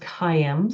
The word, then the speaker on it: Caim: they think it's word calm it actually is pronounced cim so I'm doing it really slowly it's actually